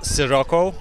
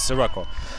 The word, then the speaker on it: Sirocco: It's Sirocco, like with an S, not with the she or C, or it's classic S, Sirocco.